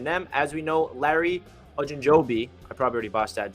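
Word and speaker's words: Ogunjobi: are interested in them as we know larry ajinjobi i probably already bought that joe told me how to say it beforehand um okay okanjobi there we go larry ogunjoby and linebacker quan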